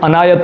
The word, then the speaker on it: عنایت: کرنا یعنی بخش دینا، یہ لفظ عنایت ہے، ہمارے اکثر لوگ اس کو عنایت یعنی عین پر زبر کے ساتھ پڑھتے ہیں، جبکہ یہ صحیح لفظ صحیح تلفظ کے ساتھ عنایت ہے، عین کے نیچے زیر ہے۔ تحریری سند لفظ لکھا